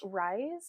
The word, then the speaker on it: Ryse: Yeah, it's Rise. It has like turkey tail and lion's mane and a couple of other things in it as well. It's spelled Ryse.